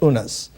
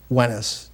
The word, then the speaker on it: Unas: venice sometimes uh in in older egyptology called unas wennis is the correct pronunciation so that entering that